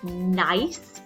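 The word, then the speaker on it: gneiss: so this is pronounced nice you don't really pronounce the G and this is a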